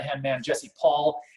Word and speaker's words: Poll: right hand man jesse paul it's people l do people get your name wrong all the time yeah yeah they do uh because they see p-o-l-l and they think poll but it's paul p-o-l-l jessie's on with us